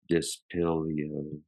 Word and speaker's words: Dispilio: to suggest around 10,000 years ago with the disbo tablet I think that's the way it's pronounced the dispilio tablet let me double check on that dispilio yeah the dispilio tablet a wooden tablet bearing